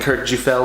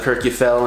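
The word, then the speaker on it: Kirkjufell: the pronunciations to correct I know I was saying Kurt G fell instead of Kirk you fell and I didn't know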